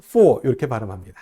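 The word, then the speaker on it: 四: 숫자 4 는 " 시 " 라고 발음 하죠 .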